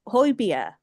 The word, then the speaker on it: Højbjerg: Everyone can pronounce Højbjerg because they've made the effort, and those letters don't say Højbjerg.